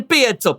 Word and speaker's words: piezo: That is how you say that, by the way. It's not a pizza pickup, it's not a piezo, it's a piezo. Maybe a little bit of that, it's a piezo pickup.